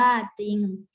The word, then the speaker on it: จริง: ชนะ ตัว หน้า และ ไม่ ออก เสียง ตัว ร เรือ ค่ะ คำ ที่ มี